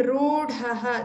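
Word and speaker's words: रूढः: Here pronounce vidushaha, the shakara should be heard well, and rudhaha, this is ru, the long u, rudhaha, dha also should be heard.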